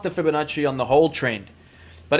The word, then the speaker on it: Fibonacci: his name was Fibonacci sorry I'm actually pronouncing that wrong it's probably Fibonacci right not Fibonacci it's Fibonacci cuz Italians always put the emphasis on the first syllable if I'm correct all right so I